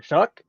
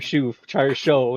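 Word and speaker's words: Shough: Which, by the way, I just realized how to say his name today. It doesn't look like it. Like as a choir guy, somebody that has literally studied how to pronounce things. No, it doesn't make any sense to me. No, I was over here saying Tyler Show, and nope, I'm not even close.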